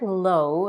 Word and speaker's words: low: Lips at the end the word low is pronounced with the diphthong o a jifthong is two